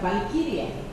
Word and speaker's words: Walkiria: Mi nombre es Walkiria y en alemán se pronuncia Valkyria.